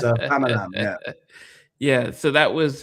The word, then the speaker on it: Famalam: to make sure I got the spelling right, Famala. Famalam. Yes. My mum Yes. mispronounces it. My mum's like, oh, I watched Famala. Famala. No, it's a Famalam.